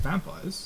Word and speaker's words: vampire: just jump straight into vampires I mean it why not I mean I accidentally mentioned it so um yeah vampires or uh the French pronunciation vampir I think I've just